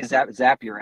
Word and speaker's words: Zapier: So on the Zapier side, I say Zapier as in Zapier makes you happier. That's how I remember the pronunciation.